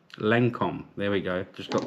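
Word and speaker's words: Lancôme: I don't know how to pronounce it. Poem? Lancome.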